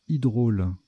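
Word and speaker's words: hydraule: Je ne sais plus comment ça se prononce, mais il me semble que... Non, c'est Hydrôle, donc nom féminin.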